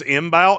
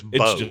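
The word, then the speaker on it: Mbow: Uh Marcus imbal. Yeah, the m silent. It's Marcus Bo.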